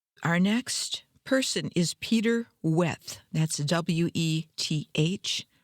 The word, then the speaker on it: Weth: Our next person is Peter Weth. That's W-E-T-H. Might have been pronounced Vet.